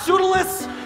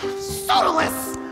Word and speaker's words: Pseudolus: Pseudolus! Yes, Hysteria? Pseudolus! Pronounced perfectly. You know, a lot of people say pseudolus, and I really hate that.